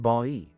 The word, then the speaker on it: Bay: However, more recent linguistic and geographical evidence points to Bay, Laguna, pronounced Ba-i, as the more likely candidate.